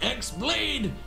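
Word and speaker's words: χ-blade: yeah it means the x-blade it's just pronounced like keyblade even though it's just one keyblade ah the series is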